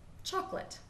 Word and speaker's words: chocolate: So, for example, one of my favorite things, chocolate.